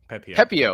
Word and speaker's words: Pepiot: In return, the Rays getting back Ryan, how do you pronounce his last name? Pepiot? Pepiot.